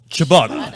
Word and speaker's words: ciabatta: Ciabatta.